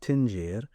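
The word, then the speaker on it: dingir: Earth and Dinger it's spelled Dinger but it's pronounced tinger is the word that if I go to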